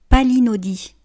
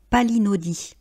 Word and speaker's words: palinodie: monacal, palinodie, palinodie. Vous voyez que le E ne se prononce pas et qu'il est muet donc on dit bien palinodie.